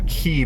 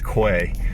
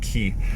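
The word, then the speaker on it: quay: um it's pretty it's it's pronounced key but it's spelled q-u-a-y so if you ever see the word what you would might want to say is que it's pronounced key um the key side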